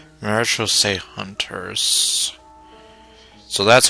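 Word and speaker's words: Marechaussee: a group known as the marose hunters marital say Hunters so that's how you pronounce that word now though watch I'm going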